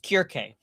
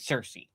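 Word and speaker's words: Circe: Got Charlize Theron as, in Greek it would be pronounced Kirke, but in anglicized speech it's pronounced that you'd be pronouncing it Cersei.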